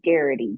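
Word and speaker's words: Geraghty: aghs everywhere I mean my maiden name was Garrity g-e-r-a-g-h-t-y I can't imagine that it's not I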